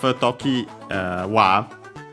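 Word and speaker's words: 常盤: Funny enough, Tokiwa will technically be a compound. Toki. Well, not the usual pronunciation for that kanji, but it's the one for always.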